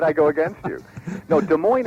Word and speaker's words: Des Moines: go against you no De Moine is what I put in my book uh there may be some variation with the first syllable but I would I would I would give this much counsel be careful about over pronouncing and a vowel in an unstressed syllable that's very good his